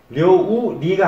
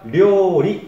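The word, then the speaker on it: 料理: 그래서 료우 리가 아니라 료리 이렇게 발음하는 게 정확합니다.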